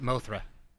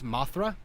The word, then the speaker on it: Mothra: one called it MOA like no it's Mothra like moth like the thing yeah right how do